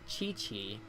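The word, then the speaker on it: Qiqi: Yeah, I I see it pronounced Chi-Chi. I do think in Chinese it is chi. So, I think qi is chi.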